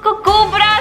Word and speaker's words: Kubbra: ओह नो, it's actually it's just कुब्रा, इट्स कुब्रा like KUBBI कुब्रा, को संधि विच्छेद ब्रा and that's how यू गेट the name. या गंदी वाली ब्रा, इट्स सिंपल। को करो मुझे वैसे कुब्रा।